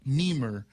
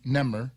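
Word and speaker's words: Nehmer: cases that are called Nemer they're actually it's spelled NE so it could be ner but I think they're more commonly referred to as Nemer so these Nemer cases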